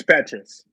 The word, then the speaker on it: Petras: for sure so Kim Petras I think is how you say it is it Petrus or Patriots it's Petrus Kim Petras Feed the